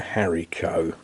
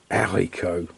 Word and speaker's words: haricot: They're runner beans, they're haricot, or haricot, because the H is silent.